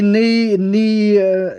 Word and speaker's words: NEEY: show you the knee i don't need nay can they not call this one like peter so we can pronounce it now it's the knee knee let's call it knee it's a smart active